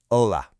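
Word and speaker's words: hola: Your number one most important word is ola. Now, let's get the pronunciation just right. It's o l a. That h at the beginning totally silent.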